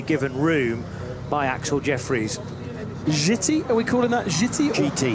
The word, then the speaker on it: Giti: capital G, capital T, and it is pronounced. I checked that with the team at the start of the week. Yeah. GT tyres.